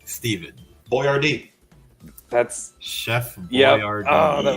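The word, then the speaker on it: Boyardee: what Italian American Chef misspelled his name on his product so that people would pronounce it correctly stevenh Boyard d That's Chef Boyard oh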